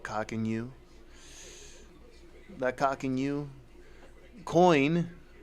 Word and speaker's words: Coqinu: How many people will start to get cock and you, not financial advice, but and that is spelled COQINU.